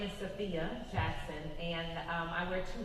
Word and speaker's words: Sophia: I am Sophia Jackson, which, by the way, Sophia is the most common mispronunciation, but it's okay, because I like that image of like, I got a lot of fire in my belly. But my name is Sophia Jackson, and I wear two hats.